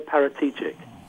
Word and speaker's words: Paratici: Fabio Paratici.